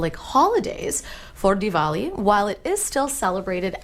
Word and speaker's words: Diwali: pronounciation of this celebration Dali The Hard D is actually something we want to avoid whereas the like